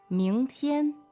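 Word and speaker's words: 明天: And the word for tomorrow is 明天，明天 second tone and first tone, right?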